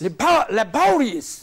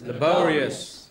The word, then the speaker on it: laborious: Then there are words which are ending in O-U-S. Ending in? O-U-S. Syllable that precedes. Curious. This is to be made prominent.